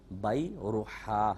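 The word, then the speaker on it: بیرحاء: پسندیدہ باغ بیروحا تھا۔ بیروحا، یہ اس کا تلفظ ہے، با یا را حا الف اور آخر میں حمزہ، بیروحا۔ تو یہ ایک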